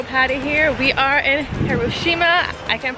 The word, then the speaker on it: Hiroshima: We are in Hiroshima. I can't pronounce it right. How do you pronounce it? It's correctly pronounced Hiroshima.